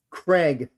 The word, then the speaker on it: Kregg: Craig, just like the name, Craig.